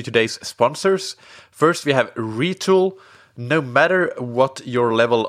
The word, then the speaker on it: Retül: First, we have Retül.